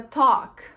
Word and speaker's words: talk: Quando você tem esse AL, assim, você não pronuncia igual a gente fala, tá? Então, por exemplo, a palavra talk, né, que é falar, não é talk, não é talk, é talk.